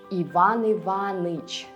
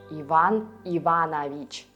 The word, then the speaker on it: Иван Иванович: Sometimes in conversational speech, patronymic names get reduced, and you can hear Ivan Ivanich instead of Ivan Ivanovich, or Marivanna instead of Maria Ivanovna.